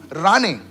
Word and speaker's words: Rane: It's Rane. Okay, Rane. Can you lift your hands up, please? I must have missed it. It's Rane. It's not Mane, it's Rane.